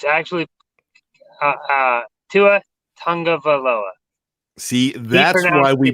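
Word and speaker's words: Tua Tagovailoa: tua himself pronounced it it's not pronounced anything like it's spelled it's actually to a tongue of a lova tongue of Aloha excuse me it's actually to a tongue of Aloha see that and why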